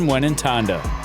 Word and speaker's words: Mwenentanda: A silent ND in Ndjakalenga, but you pronounce all the letters in Mwenentanda.